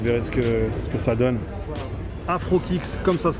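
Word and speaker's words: AfroKix: AfroKicks, comme ça se prononce, comme ça, mais tiens, tu me le tourneras si tu peux avec la technologie d'Hollywood, tu vois. Afro comme Afro, Kicks, K-I-X.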